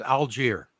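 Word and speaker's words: Allgeier: just it's actually make it easy it's it's algier Alger okay he has 900 running yards exactly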